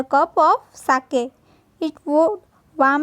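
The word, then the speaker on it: sake: सा is pronounce like फा इन father. तो जो हम फादर में फा बोलते हैं वैसे इसमें सा, एंड के राइम्स विथ वे। तो के को वे के साथ हम करेंगे तो साके, ऐसा इसका प्रोनाउंसिएशन होगा।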